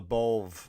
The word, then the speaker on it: LaBove: the comedy community um carl lebov or carla beau some people pronounce it different uh passed away on